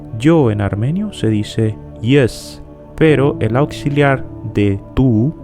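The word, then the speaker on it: ես: en armenio se dice yes pero el auxiliar de tu se dice es las dos palabras se escriben igual pero se pronuncian diferentes el pronombre personal yo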